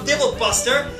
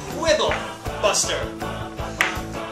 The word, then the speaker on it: Quibble Buster: hate to quibble but you also said Rob dble Buster and it's pronounced quibble Buster quibbles yeah crible four